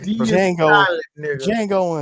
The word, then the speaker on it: Django: I'm sorry I'm sorry the D is silent Jango unchain Jango I